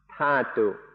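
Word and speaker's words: dhatu: so i sometimes say datu in thai it's pronounced tatu so that's why i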